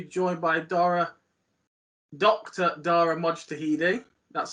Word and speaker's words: Mojtahedi: today to be joined by dora dr dara mojtahidi that's how you pronounce it daria perfect mate here uh dara